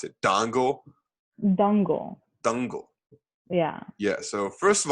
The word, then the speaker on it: Dangal: And I now a good segue to the movie you introduced me to, which was called, how do you even pronounce it? Dangal.